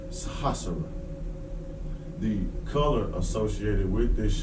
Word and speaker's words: Sahasrara: Now, for today, the Sanskrit word is going to be pronounced Sahasrara.